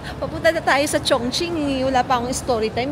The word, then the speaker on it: Chongqing: Panalo ang Chong Ching. Hindi ko alam minsan kung ano pagtabang pronunciation eh. Chong king.